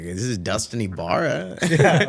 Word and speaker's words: Ybarra: bill collector called they were like is iara home I'like this is Dustin iara yeah wrong hey you just say wrong number